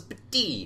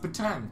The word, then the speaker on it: Batang: The walls of the cave were absolutely covered in the rune commonly pronounced as Pati. But among experts, pronounced Batang.